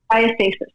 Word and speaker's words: diastasis: Diastasis. Diastasis.